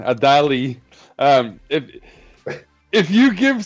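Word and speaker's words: Adalı: Time out Khan because before you give Sarah Dali the the Adal the I don't want to be the American pronunciation. Adali.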